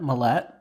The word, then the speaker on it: Mallette: and Steven Mary Mallet Mallette I want to say mlet because there's an e at the end but I think it's pronounced Mallet mhm are they decide that